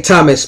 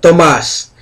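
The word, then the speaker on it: Thamuz: male or female uh thomas some say thomas but tomas and it's spelled t-h-a-m-u-z is an ambassador of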